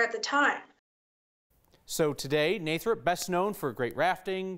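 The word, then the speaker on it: Nathrop: The town is pronounced Nathrup. It was founded by Charles Nachtrieb, who, when the early settlers were coming in, could not pronounce Nachtrieb, so they Americanized the name to Nathrup.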